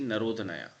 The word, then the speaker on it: Narodnaya: The spelling or the pronunciation you can see Narodnaya.